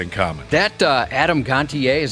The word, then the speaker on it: Gontier: Dakota have that in common that uh Adam Gontier is how you pronounce his last name yep yep lead singer